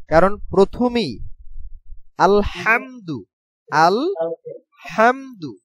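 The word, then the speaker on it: الحمد: উচ্চারণ কারণ প্রথমেই আলহামদু আল হামদু হা উচ্চারণের ক্ষেত্রে এই হা উচ্চারণ হয় আলহামদু আলহামদু হামদু এইটা গলার ভিতর থেকে চাপ দিয়ে উচ্চারণ করতে হবে আলহামদু আলহামদু আলহামদু আলহামদু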